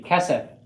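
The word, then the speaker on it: כֶּסֶף: Accent on the first syllable. Repeat after me. Kesef.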